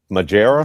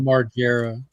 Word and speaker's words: Margera: just he's just not like bam fam majera is that how you pronounce it majera margera there's still only one person that they're